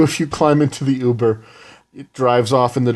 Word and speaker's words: Uber: I think that's how it's pronounced. No, it's Uber.